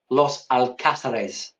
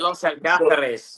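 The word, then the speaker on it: Los Alcázares: Your pronunciation was nearly spot on. Los Alcasarees. L. I just call it Los Alath.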